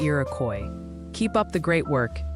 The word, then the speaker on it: Iroquois: They're gently suggesting Iroquois County is pronounced closer to Iroquois. Keep up the great work. Stay safe, everyone. Iroquois.